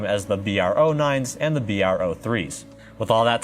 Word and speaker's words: BR03: a quick side note the models of the tower and bookshelf speakers can actually be pronounced as bro 9 and bro 3 which is how i'll